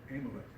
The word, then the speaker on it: Amalek: One of the first things that Saul did, or was instructed by God to do, was to punish a king called Amalek. A-M-A-L-E-K. I'm pronouncing that right, but I'll spell it so you know who it is.